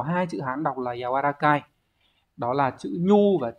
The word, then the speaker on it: 柔らかい: Thì chúng ta sẽ có hai chữ Hán đọc là yawarakai.